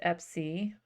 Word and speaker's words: Epsy: So we've got Epphis is how it's spelled here, but it's Epsy.